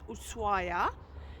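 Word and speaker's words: Ushuaia: spelled shua but the locals tell me it's pronounced usua so there's a learning curve for us and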